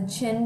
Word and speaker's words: Qin: history the qin dynasty is the first is pronounced the qin dynasty and the first emperor the major emperor